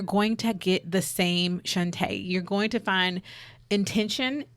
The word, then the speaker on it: Shunta: So I'm Shunta. It's pronounced Shunta, even though when you look at the spelling of it, a lot of people think it's Shunta.